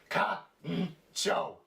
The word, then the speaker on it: kancho: So at the top here, it would be pronounced ka-n-cho, kancho. But down here, it's a little different. It would be ka-n-cho. You see? Ka-n-cho. You see that? That's the cho. So all together now you would say, kancho!